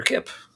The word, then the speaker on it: Kip: a previous episode featuring Dr. Kip, which rhymes with clip.